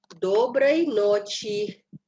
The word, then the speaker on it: доброй ночи: Berikutnya, доброй ночи. Доброй ночи. Penekanannya di O yang pertama dan di huruf kedua juga di O-nya.